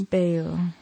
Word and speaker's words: Bayle: And Bayle. Yeah, I'm not sure if it's Bayle or Bayle. It's Bayle.